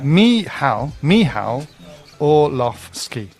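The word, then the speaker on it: Orłowski: And with regards to Michael Olowski, we've had some pronunciation instructions from Poland. Is it Orlowski? And that is, or? Yeah, Michał Orlowski. That's what Michał Orlowski.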